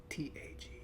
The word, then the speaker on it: Sonntag: Sonntag. That's the one that's gonna trip me up because it's Sonn and it's pronounced like Son.